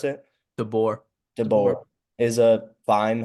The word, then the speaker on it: DeBoer: So, um, and I think DeBoer, how do you pronounce it? DeBoer.